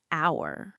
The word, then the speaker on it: hour: Yes, but the H is silent. Oh. So, the sound is like hour.